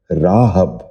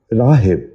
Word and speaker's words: راہب: نشین کر لیجئے، راغب۔ 11واں لفظ ہے راہب۔ یہ غلط تلفظ ہے۔ درست تلفظ ہے راہب۔ دوبارہ سنیے، راہب۔ بچوں آپ بھی ذہن